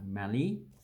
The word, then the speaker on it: Mallee: So Mallee, you know, there's an African country called Mali that has a long A vowel. This one has a short A vowel. So Mallee.